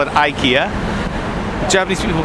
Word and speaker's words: IKEA: Where I'm from in Canada, we call it IKEA. Japanese people call it Iikia." I'm right. Huh? They're wrong. Correct. And she said incorrect. It is pronounced Iika in Sweden. Ika.